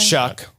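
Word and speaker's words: Shough: Shuck. Like you're shucking corn. Yeah. But it's sh h o u g h. Looks like shia or show. But it's it's Tyler Shuck.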